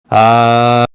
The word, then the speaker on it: Adonai: Now, you're going to charge this symbol exactly as you did before, only this time you'll use the mantra Adonai, pronounced Adonai.